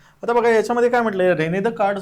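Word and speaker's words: René Descartes: आहे रेने दे का स्पेलिंग थोडस वेगळे रेने दे का्ट एस सायलेंट आहे याला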